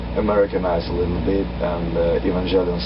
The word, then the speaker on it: Evangelion: the way I pronounces Evangelion some people told me it's evangelia on yeah because they see the lion in the end yeah they see the